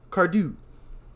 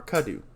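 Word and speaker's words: Cadieux: I put an R there. It's not there. Yeah. Yeah. I knew how to pronounce the French IEUX, but I messed up by throwing a letter that wasn't in there for no reason.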